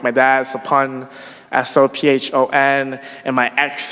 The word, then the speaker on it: Sophon: There's a lot of Cambodians with the same SOPH prefix, like my dad, Sapun, SOPHON, and my ex, Sapi, SOPHY, and her